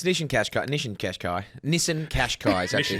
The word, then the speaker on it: Qashqai: Nissan Kashkai is actually how it's pronounced.